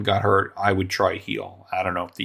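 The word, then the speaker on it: Gil: My hope, by the way, is that Lewis Heel, G-I-L, it's pronounced Heel, returns to the form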